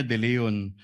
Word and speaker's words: De Leon: Ang tumatawag po sa akin ay si Miss Sonia De Leon po, ang Chief Admin po ng Cash Division ng Department of Education.